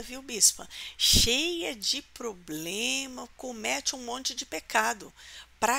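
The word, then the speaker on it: κώμη: Polis né A agora a palavra povoados ela é é pronunciada come né em grego come que significa Campo não é e a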